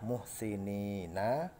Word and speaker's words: muhsinin: Karena dibaca wakof sehingga fathahnya diganti menjadi sukun. Bacanya muhsinin. Asalnya adalah muhsinina, karena diwakofkan menjadi muhsinin.